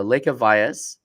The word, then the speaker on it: Lekha Vyas: the industry so um want to introduce uh Lea Vias to the show uh and did I pronounce that correctly you actually got it right